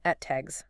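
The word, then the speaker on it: ATAGS: They're procuring 307 units of the ETAGs, and this is pronounced ETAGs, by the way.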